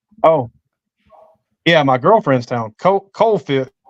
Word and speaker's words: Coalfield: Oh, yeah, my girlfriend's town, Coalfield. It's spelled Coalfield, and they call it Cofield.